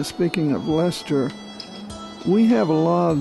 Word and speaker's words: Leicester: So anyway, we're on Highway 63, the new Leicester Highway. That's L-E-I-C-E-S-T-E-R. Most people pronounce it Leicester or Leicester, but it's Leicester, like in England.